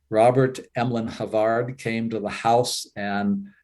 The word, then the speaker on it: Havard: physician Havard was uh Havard I guess is one way that they pronounce it in England I just pronounce it Havard is kind of the way it seems to read he was the family